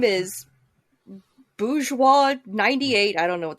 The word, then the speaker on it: bourgeois: bourgeois number two 98 bougie 98 there you go bose bose 21. okay well that's not how it's pronounced it's a french word it's bourgeois and it's not rich people